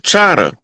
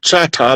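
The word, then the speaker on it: Chahta: Choctaw is a mispronunciation. It's an English pronunciation of Chata. And Oh. the Louisiana, the French pronounce it Chata like it's supposed to be pronounced. But as you move toward the East Coast and you get more into the territory controlled by the English, Mm-hmm. then it changes from Chata to Choctaw.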